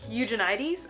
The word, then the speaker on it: Eugenides: to see was Jeffrey eug eugenides I think is how you pronounce it who wrote The Virgin